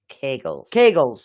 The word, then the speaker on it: Kegels: Which one? Kegels. Like cake.